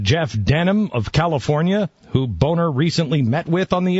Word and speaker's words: Boehner: Denham of California, who Boehner recently met with on the issue. I think it's pronounced Boehner. Is it? There's no A in that. Yeah, it's B-O-E. No, you're that's right. Boehner. That's Boehner. Yeah.